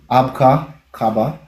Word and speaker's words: Abka Kaba: Um Abka Cababa. Um if you want me to spell it, I can do that. It's A B K A K A B A. So, it's not too difficult. Um, you can separate it by saying Abka and Cabba or you can put